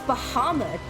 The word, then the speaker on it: Bahamut: It's Bahamut.